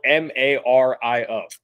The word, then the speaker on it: Mario: Gary how do you pronounce the name spelled m-a-r-i-o pronounce that name m-a-r-i-o Mario like the video Mario